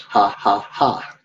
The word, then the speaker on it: 555: Oh, and by the way, 555 is pronounced ha, ha, ha. Also, we could also use it for LOL. So if you ever see me use 555, the pronunciation for that in Thai is ha, ha, ha.